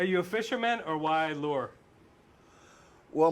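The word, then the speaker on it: Luhr: Are you a fisherman or why lure? Well, my real name is pronounced Lure, but it's spelled L-U-H-R. So I just changed it to Lure to make it, to protect the innocent ones of my family.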